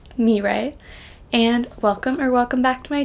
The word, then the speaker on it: Mirai: I'm Mirai, pronounced like do-re-mi, Mirai, and welcome back to my channel.